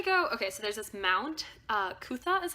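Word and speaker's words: Mount Coot-tha: Well, we tried to go, okay, so there's this Mount Kutha is how you say it.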